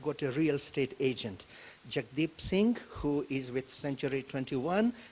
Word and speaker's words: Jagdeep Singh: On South Asian Business Profile, today I've got a real estate agent, Jagdeep Singh, who is with Century 21 New Star Realty.